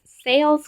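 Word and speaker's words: Selye: General Adaptation Syndrome, or GAS, is Sayle's concept of the body's adaptive response to stress. And this famous psychologist who founded it was Sayle, or Sayle is spelled Seyle, if you're wondering.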